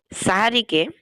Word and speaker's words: সাহারি: শেষ রাতে আমরা যে খাবারটা খাই ফজরের আগে, সেটাকে বলা হয় সাহারি। আর সেহের বা সিহর, এটা হচ্ছে জাদু। অর্থাৎ সেহেরি বলে জাদু হয়ে যায়, মানে উচ্চারণগত পার্থক্যের কারণে।